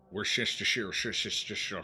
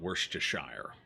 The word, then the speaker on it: Worcestershire: Yeah, over here most people, if they can say it at all, just call it Worcestershire. Some will say Worcestershire. One of those two. That's the standard pronunciation over this side of the pond, and honestly, it's a